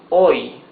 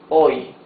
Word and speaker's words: hoy: Here it says hoy. Hoy. H is mute, so you pronounce the O and the Y. Hoy.